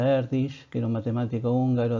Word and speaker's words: Erdős: De hecho, Paul Erdős, que parece que se pronuncia Erdős, que era un matemático húngaro del siglo XX,